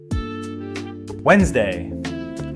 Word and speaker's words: Wednesday: Which day of the week has a silent D? Wednesday. Wednesday. Which word sounds exactly like kernel, as in corn?